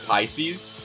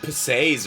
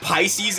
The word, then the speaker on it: Pisces: pronounce this the word Pisces? Go ahead. I want to hear this. A Nirvana song. Uh because I I used to call it like pes or something like that.